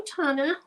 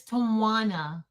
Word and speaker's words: Tawana: Because I said it wrong the other day, and then I looked in the chat, and I saw she said it's like Tawanda without the D, so Tawana.